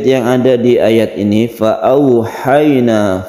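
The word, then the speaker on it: فأوحينا: Fa'auhayna, fa'au, ini au membacanya menjadi huruf u dilemaskan, ini namanya layin. Fa'auhayna sama dengan ha yang berfathah kemudian sukun ya, ini juga merupakan mat layin yang kita lemaskan.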